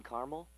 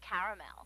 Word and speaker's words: caramel: please like it in Carmel actually you said Carmel when it's pronounced caramel can't we just call